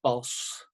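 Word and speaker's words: Bosch: actually everyone should know it's not a dance boss it's pronounced boss in flemish but i say boss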